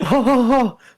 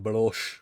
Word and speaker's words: Belloc: guy Baloch, and he's just like, Belloc, It's Belloc.